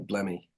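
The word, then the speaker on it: Blemmye: I must admit, it's a weird spelling because it's Y-E at the end. So is it Blemmy? Yeah, a Blemmy.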